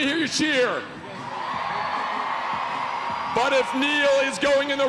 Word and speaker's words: Neil: So what we have here is Neil, which he just told me rhymes with peel.